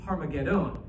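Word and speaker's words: Ἁρμαγεδών: at the Greek and in Greek is harmagedon and we don't get the H uh from the Greek and I wish it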